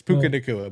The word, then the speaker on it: Puka: where you were going we knew yeah it's pukaa but we we hear you man we knew